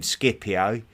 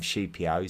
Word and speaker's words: Scipio: We're going to be looking at Sheipio, who I know a lot of people call him Scipio. Um, I'm just trying to stay true to the Latin pronunciation and and call him Shipio.